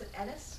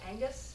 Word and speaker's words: Aonghus: spell and variously interpreted I often pronounced a tennis because I do the gh in the middle a lot of other people will go Angus because with the hard G I think he answers to either so you're good either way I think Celtic deities